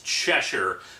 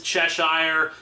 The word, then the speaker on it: Cheshire: And yes, I know, the proper pronunciation is Cheshire, but it's just I've been saying it for years as Cheshire, so I'm kinda stuck with it.